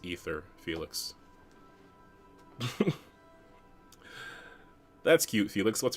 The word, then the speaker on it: aether: 5 years go by, they send you a message out of the aether. What's going through your head? What's going through my head is that's not how you pronounce ether, Felix.